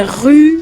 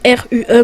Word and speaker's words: Rue: C'est Rue ou Roux, ça s'écrit R-U-E, moi je dis ça Rue.